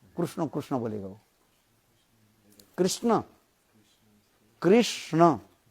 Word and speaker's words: कृष्ण: उनके जो व होता किंतु वास्तव उच्चारण क्या है हरे कृष्णा हरे कृष्ण कृष्ण कृष्णा हरे हरे हरे राम हरे राम राम